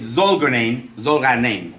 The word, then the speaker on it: Zolgharnian: Well, my last name is pronounced Smith. With a silent Z. Okay, it's Zolgharnian, really.